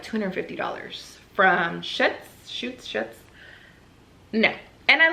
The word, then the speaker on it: Schutz: Schutz. Okay, Schutz.